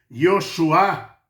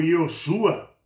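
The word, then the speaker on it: יהושע: se pronuncia como sendo Yosuá ou Yosua. Tá no Novo Testamento, no no Antigo Testamento, no Velho Testamento, o nome Josué se pronuncia Yosua ou Yosuá, tá?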